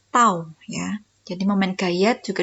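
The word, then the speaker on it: τ: Ya, kita bacanya adalah tau ya.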